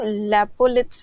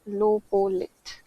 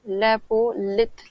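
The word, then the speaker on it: lopolith: में और पीपीटी में लोपोलिथ होगा वो लेपोत नहीं है लोपोलिथ इंग्लिश में तो स्पेलिंग सही लिखा हुआ है नोट्स में या पीपीटी में लेपो लिथ लिखा हुआ था तो उसको लोपोलिथ कहते हैं बेसिकली लोपोलिथ तो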